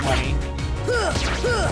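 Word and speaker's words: munny: It's like moony, like moon, or however you would pronounce it with a U. But rest assured, they still call it money.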